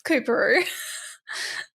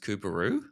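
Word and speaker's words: Coorparoo: Peru Walter Taylor Paddington Central morning side it's koeru Karu Karu yeah is it is it have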